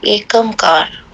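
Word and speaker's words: ੴ: अजूनी सेबंग गुरु प्रसाद एककार इस शब्द का शुद्ध उच्चारण है एकमकार इसके उच्चारण में इसके तीन अंश किए जाते हैं।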